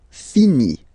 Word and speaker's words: finit: Il, elle finit. So I-T, final T, not pronounced.